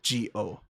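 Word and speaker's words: Zi-O: you said zo well it's z i- o so Z okay but it's pronounced g o Japanese pronounce things weird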